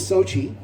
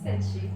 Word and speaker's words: Senshi: This is Sochi. Yeah. Senshi. Yeah. Am I saying it wrong the whole time? One more time. Senshi.